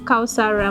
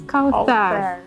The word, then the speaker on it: Kauthar: My name is not Kausara. My name is Kauthar.